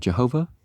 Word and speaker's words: Jehovah: And Jehovah, you pronounce it with a Y and a W, but instead of a J and a V, is so often called the living God to distinguish him from these.